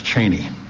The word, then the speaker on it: Cheney: I asked him, I said, "What is it, Cheney or Cheney?" He said, "Son, it's Cheney."